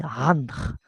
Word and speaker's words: Ankh: La prononciation en égyptien, c'est Randr. Il faut le dire, c'est un Rain, c'est Randr, c'est la croix de vie.